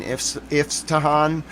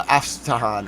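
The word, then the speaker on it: Isfahan: Apparently it has two different names. Well two phonetic pronunciations. Then I'll show you what happened in Tel Aviv today. But we got to go to Afahan or if Tahhan. I think it's Afahan. I'm going to go with my Yun's pronunciation.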